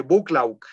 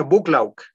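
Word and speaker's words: Buccleuch: noble el conde de bucklaw se escribe de una escritura en medio difícil se escribe algo así como con bosques no se pronuncia bucklaw un noble un joven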